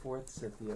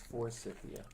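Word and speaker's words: forsythia: Am I pronouncing it correctly? Fourth Forcia. For Cyia. I always say fourth Cyia, but it's for Cyia.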